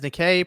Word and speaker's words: Nikke: Zoob says Nikkei pronounced similar to Nike.